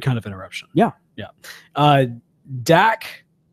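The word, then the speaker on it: Dakkeh: Dak or D-A-K-K-E-H. I'm assuming the E-H is silent. I'd say we'd go with decay.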